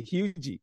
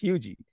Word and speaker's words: Huger: say north of Charleston, they always say Hugie. So every time anybody calls me, it's Hugie. So that's how my last name is pronounced.